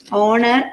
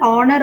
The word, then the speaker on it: honor: few words like our honor and honest so in these three words the first letter H is a consonant which is silent so you have to pronounce it as our honor or honest right so